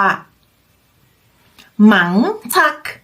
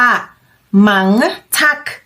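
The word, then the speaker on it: mange tak: สามารถ พูด ขอบคุณ ว่า หมัง ทัก อ่าน ว่า หมัง ทัก ขอบคุณ มาก เรา พูด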